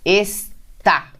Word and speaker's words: está: Por exemplo, eu tenho lá, está. Tem que ter acento, porque é uma oxítona terminada em A.